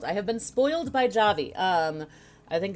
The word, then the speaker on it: Javy: I think it's good pronunciation it's Javi okay it's not jabby or JV guys coffee and Java Java had a baby Javi so they want to make sure you pronounce it right which makes sense tone